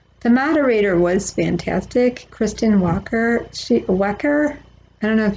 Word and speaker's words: Welker: The moderator was fantastic, Kristen Welker. Welker. I don't know if you pronounce it Welker or Wecker, Welker, Kristen with an E.